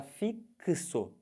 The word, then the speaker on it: fixo: ela é transcrição fonética se você fala fixo quando você fala essa letra x nessa palavra ela tem som de que se Ou seja é uma